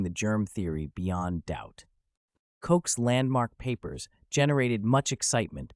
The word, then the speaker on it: Koch: The meteoric rise of Robert Koch, pronounced Koch, from obscure country doctor